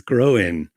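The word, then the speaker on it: Gróin: That's how you pronounce it. That's what the accent on the I means, Groen.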